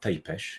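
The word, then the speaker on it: Țepeș: Or Vlad Tesh if you want to use the proper Romanian pronunciation.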